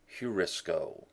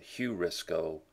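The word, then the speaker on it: εὑρίσκω: Aorist passive subjunctive of eurisko. You may have heard the word eureka, I found it. Eurisko, heurisko, to be better pronounced with the heavy breathing here on the EU sound, heurisko, to find out by experience or thought.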